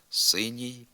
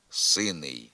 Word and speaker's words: синій: не відповідає літературній нормі у м'якій групі прикметників кінцевий приголосний основий завжди пом'якшується наприклад синій синя синє синього синім тверда вимова приголос перед закінченням синий сина сине синого синим характерна для південно-західних говорів є відхиленням від літературної норми у дієслівних закінченнях третьої